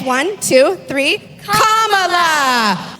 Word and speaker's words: Kamala: First, you say comma like a comma in a sentence. Then you say la like la. Put it together and it's 1 2 3 comma.